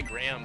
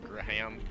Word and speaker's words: Graham: __ ] said it gram GRE Greg gream I don't know what extra yeah fu yeah it's like Graham like graham cracker yeah um yeah I